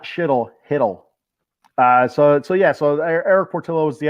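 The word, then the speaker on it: Chytil: Danny says, for shittle, the C is silent as well. So I guess it's hiddle. It's not shittle. It's hiddle.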